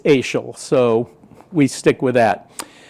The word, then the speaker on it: Asahel: back in the day nobody knew how to pronounce ael's name it's spelled asahel and people call ashel and all kinds of variations of ass it it um but the family says it's AAL so we stick with